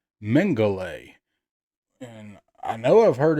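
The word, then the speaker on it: Mengele: take the time to look up how to pronounce that and it is Joseph mangay and I know I've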